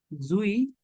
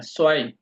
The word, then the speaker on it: zwei: আট, হ্যাঁ, ইন, এক থেকে ইনস, ইন্স জুই, না, আইন্স, আচ্ছা, আইন, আইনস, জুই, জুই না, সোয়াই।